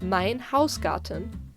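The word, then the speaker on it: Mein Hausgarten: which she knows best you pronounce it mein hausgaarten the heiliger symphony this one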